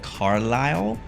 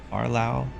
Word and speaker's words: Carlisle: We're coming up on a place that I think I know how to pronounce, and it's called Carlisle. That's how we would say it in America, at least. Carlisle.